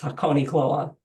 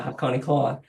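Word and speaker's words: Hakonechloa: If you wonder how to say it, it's Hakone Kloa. I've heard that many times and I still can't say it. Yeah, Hakone Kloa.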